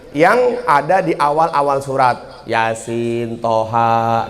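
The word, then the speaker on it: يس: Misalnya gini, nun, tapi dibacanya nah. Kalau ibu-ibu sama bapak-bapak baca surat Yasin, Yasa apa Yasin?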